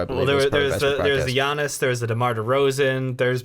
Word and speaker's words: Giannis: And you mean Giannis, right? That hard G. I messed up. I forgot it was the Y sound.